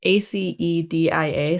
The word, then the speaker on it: acedia: The 8th deadly sin, I don't know how to pronounce it. It's ACEDIA, so acedia.